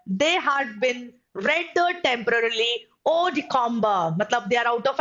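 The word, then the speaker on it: hors de combat: All right, now next देख सकते हैं students, it's odicomba. All right, इसमें H का pronunciation हम एकदम डायरेक्टली नहीं बोलते हैं, it's odicomba. Odicomba.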